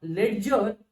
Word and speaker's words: ledger: Yes, it is not ledger, it is ledger. D is again a silent letter. Why? Because it is in before the G, and it is in the combination of DG.